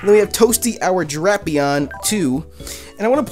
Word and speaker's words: Drapion: And if anybody you guys, if any of you guys are wondering why I'm saying Drapion, that's how they pronounce it in the anime.